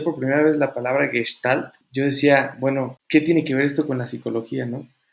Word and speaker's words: Gestalt: Que estaba en una clase y el profesor, dijo, no se dice Gestalt como meme, ¿no? De no se dice Sara, se dice Sarah, así. No se dice Gestalt, se dice Gestalt, ¿no?